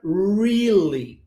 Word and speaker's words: really: Olha como é que é feito o som, a pronúncia dessa palavra. Você pega o R, né? E você vai ter que dobrar a sua língua e quase que encostá-la no céu da boca, ó.